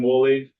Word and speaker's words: Woolley: So I'm Woolley. His last name's pronounced like Woolly Mammoth. It's spelled different.